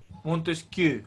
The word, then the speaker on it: Montesquieu: Montesquieu, así se pronuncia.